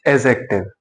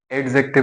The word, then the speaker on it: adjective: इट्स एडजेक्टिव। एडजेक्टिव नहीं है ये। डी यहां पर साइलेंट है।